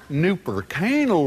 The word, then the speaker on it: Nooper Canal: the new, more satisfying Nooper Canal Raymond. Yeah. Nooper Canal? Check it out. That's its real name. Nooper rhymes with super, and canal rhymes with anal.